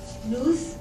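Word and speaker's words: νοῦς: The famous nootropics, this term comes from the Greek words nous, I will pronounce it nous and nous, which means mind, and trope, meaning to bend, to turn, or what we call neuroenhancers.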